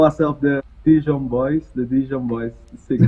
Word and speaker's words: Dijon: call it dijon dai john how do you pronounce it we call ourselves the dijon boys the dijon boys six digital boys all